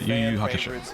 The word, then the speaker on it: Yu Yu Hakusho: Yu Yu Hakusho.